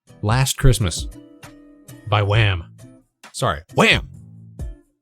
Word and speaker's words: Wham!: Sorry, Wham! You gotta pronounce it with the exclamation mark.